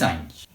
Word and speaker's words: anys: A letra N, acompanhada do Y, né, do Y, forma esse som de NH, nha.